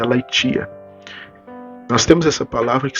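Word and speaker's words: ἀλήθεια: grega para a verdade que é a laitia. A laitia, né? Mas se você for escrever, vai ser a L, e t e a, né? Você vai escrever aia, né? Se pronuncia laitia.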